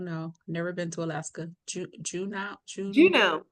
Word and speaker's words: Juneau: Juneau. Juneau? Okay. Juneau's our capital, and it's Okay. not like Juno. It's spelled a little different.